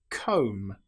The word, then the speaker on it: comb: An example might be lamb or comb. Here we don't pronounce the B. We don't say lamb. It's just lamb or comb. The B is totally silent.